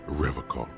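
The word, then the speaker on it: Revachol: a call he pronounces rivercon with a hard k unlike other people serious question time this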